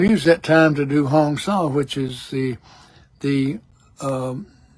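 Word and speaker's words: Hong-Sau: The explanation if you look up Hongsaw H O N G S A U but it's pronounced Hong Saw. Hong like Hong Kong and Saw like Hansaw.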